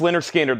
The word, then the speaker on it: Lynyrd Skynyrd: We have Lynyrd Skynyrd, pronounced Lynyrd Skynyrd, the 2LP analog production, $64.99.